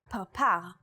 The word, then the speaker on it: parpar: In the word parpar, or butterfly, this letter is pronounced with a p sound.